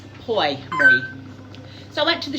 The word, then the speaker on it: Pour Moi: It's spelled P O U R M O I. Poy.